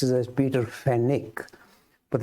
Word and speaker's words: Peter Fenwick: I was referring to is I tend to pronounce this as Peter Fenwick but in England they pronounce it as Peter fenik but it's written as f-e-n-w-i-c-k so to me